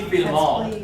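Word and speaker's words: vielmol: Merci Filmol. And the V is pronounced with an F.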